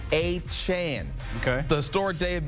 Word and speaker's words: Achane: of his last name it's not a chain but it's a Chan okay the story day